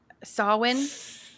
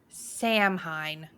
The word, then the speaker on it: Samhain: or just yeah just this one okay um sawin is how you pronounce sawin not Sam Hine that's crazy yeah in their